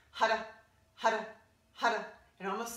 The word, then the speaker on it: Har: It's spelled H-A-R, but we roll the R. We want the tongue to hit the roof of the mouth. Roll the R. It sounds more like a D.